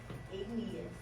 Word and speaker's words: igneous: IG says ig. And that E is a long E, not a short E. Where are you? Say it right. Igneous.